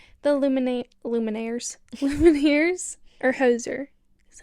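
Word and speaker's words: Hozier: Pala Taylor Swift the Lumin luminares lumins or hoser is how you say that I say h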